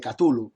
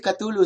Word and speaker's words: Cthulhu: Quiere decir que Lovecraft siempre dijo, estos que dicen, no se dice Cthulhu, se dice Chulu, se dice Chulu, tonterías. Lovecraft siempre dijo que el ser humano es incapaz de pronunciar el nombre de los dioses exteriores y que el CH en realidad el sonido corresponde a un carraspeo, ¿no?